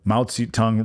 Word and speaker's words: Mao Zedong: So Mao Zedong wrote The Art of War.